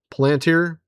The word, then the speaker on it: Palantir: We got Peter Thiel, that weirdo that owns or is over Palantir.